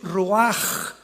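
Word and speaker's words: רוח: La palabra para espíritu en el hebreo es la palabra que es roaj, que se escribe ru con ch, pero repito, ese pronuncio pronuncia como J.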